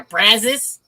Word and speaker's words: Brazos: And like, in certain words, I didn't realize, like, there's a river here called they pronounce it here Brazos, and I would pronounce it Brazos.